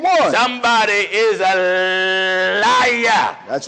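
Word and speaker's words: عيسى: a brother named Esau in Arabic Esau is pronounced Issa Issa in Arabic the name Isa is Jesus so if I say Isa that's Jesus that's Jesus Jesus that's Jesus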